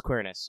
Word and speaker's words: Quirinus: new limited ssr lancer romulus equal currenus or romulus queerness i'll probably just say it that way because that's how it's pronounced but there's an equal